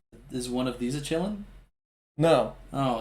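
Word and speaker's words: Qilin: q-i-l-i-n yeah oh anyways they pronounce it chilling in the movie yeah that's strange not really a noise that q makes but it isn't like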